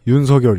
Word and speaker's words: 윤석열: 어떠냐는 제가 진사 아니고 이제라도 발음을 바꿀까 윤석열 입니다 에 뭐 그냥 막